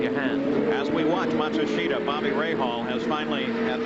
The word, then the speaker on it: Matsushita: guilty of it, but the truth is that the family name is Matsushita. But as Hiro comes to the United States, he would really prefer now, he says, for all of us to pronounce his name as Matsushita.